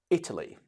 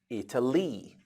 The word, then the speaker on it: Italy: let's look at this Italy this is how we say it Italy but we don't say e to leave we don't say Italy we say Italy the stress is on the first letter now look at the